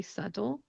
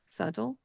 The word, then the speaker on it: subtle: The Californian accent, one of the things it's known for is turning the T's into D sounds. So I say subtle, subtle.